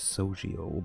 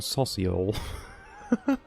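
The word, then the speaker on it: Sosiel: I never pronounce his name as Sojiel, but sure. He always has been Sociel.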